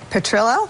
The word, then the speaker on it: Petrillo: I will defer to my new counsel, Guy Petrillo."